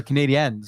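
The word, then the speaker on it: Canadiens: guys saying Canadians yes Rangers played the Canadians that's how it's pronounced here we go there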